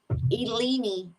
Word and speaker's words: Illini: it Illinois you know those Illinois the fighting Illini we used to have a chief my dad actually works at the University of Illinois but it's actually Eleni in in the Native American pronunciation the eyes are like he's kind of